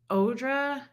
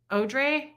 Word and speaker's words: Audrey: first name wait what it's odra odre o o like the E of arm the French way wait so is it